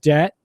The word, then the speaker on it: debt: Debt. You do not pronounce the B.